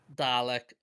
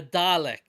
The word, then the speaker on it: Dalek: Dialect. Okay. A Dalek. You don't watch the show, do you? I watch it at at at the at frequent times. Frequently. Then how could you get the pronunciation of Dalek so wrong?